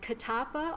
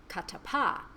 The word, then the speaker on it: Kattappa: was listening very carefully some people pronounced it kotappa and others pronounced it kattappa so I like cut the pie whereas in English if